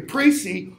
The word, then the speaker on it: précis: Then the introduction serves as what's called a précis, P-R-E-C-I-S, with a weird pronunciation of the E there, a précis, or kind of a summary of everything that's going to be in the paper.